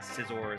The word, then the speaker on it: Scizor: like 10 that was a dumbass ooh Scizor do you guys say Scizor like scissor but like with a or do you say caor cuz Scyther Sor I think Sor I think Scizor is like the proper pronunciation but caor definitely has some kind of